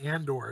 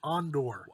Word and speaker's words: Andor: Maybe Andor. I haven't seen Andor, so if everyone dies, I'm sorry. But Oh, you're cringing me right now. It's not Andor, it's Andor.